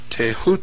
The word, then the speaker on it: Thoth: scribe of the gods Thoth pronounced taehu T the so-called Emerald Tablet